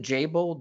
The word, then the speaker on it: Jabil: Michael, is it Jabil, the way you pronounce the name of the company? Yes, Jabil.